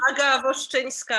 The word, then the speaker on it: Aga Woszczyńska: Hello, I'm Aga Woszczyńska. I know it's really hard to pronounce, so don't be sorry.